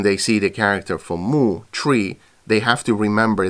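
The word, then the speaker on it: 木: So when they see the character for mu, tree, they have to remember that they shouldn't read it as shu, but they should read it with the correct pronunciation.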